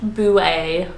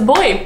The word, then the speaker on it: buoy: the floating marker but Americans Americans said boo a buoy it doesn't sound it sounds like a different language doesn't sound English boo eh it honestly sounds like someone from Essex talking about their boo it's my boo eh he's ruined um so yeah boo eh um sounds very posh but yeah it's a